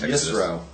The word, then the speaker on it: Yitro: 18 let's at least say it right it's yro 20 oh I'm spot okay no you're you're